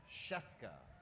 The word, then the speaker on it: Scieszka: So it's don't look at it and just say, like it rhymes with fresca, Scieszka. So everyone try Scieszka. Oh, that's perfect. You've just all legally agreed to give me your homes by saying Scieszka.